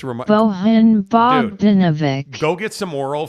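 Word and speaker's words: Bojan Bogdanović: was trying to tell us, hey, it's not Bogdanovich. And so we went to Google and did a pronunciation search. Bojan Bogdanovic. Bojan. Bojan. And depending on the language you put into Google, it's remarkable. Bojan Bogdanovic.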